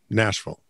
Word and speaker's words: Nashville: now remember nashville right nashville home of country music nashville the v-i-l-l-e is pronounced vol national no sense to